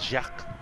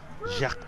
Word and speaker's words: Jacques: he has to offer but the s is silent right so it's jacques jacques yeah when i read it as if it was an english name no it's not it's french so jacques what's it's up be